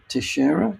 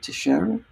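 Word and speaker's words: Teixeira: that so Jack and I think it's pronounced um Tiera Tiera yeah Portuguese so Brazilian her name possibly um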